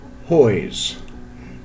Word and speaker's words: Huys: peter or piper hoyes i think that's how you pronounce his name he lived from 1519